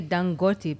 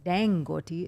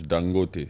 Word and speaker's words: Dangote: do you say that I would say dangote because it's an African name dangoty is sounds more American style it's dangote yeah dangote like with a Nigerian accent dangote yes he's one